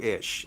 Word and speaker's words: Eash: even though it sounds, it's pronounced as if it was spelled ISH.